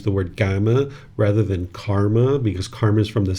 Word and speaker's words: karma: So the Sanskrit language is pronounced karma right and then the pi version which is what the original teachings of the Buddha in.